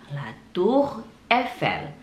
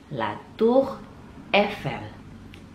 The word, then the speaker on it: La Tour Eiffel: Dan cara bacanya La Tour Eiffel. La Tour Eiffel.